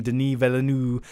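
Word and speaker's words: Denis Villeneuve: with a great director like and i always mispronounce his name denis velanu um but yeah i i it's in good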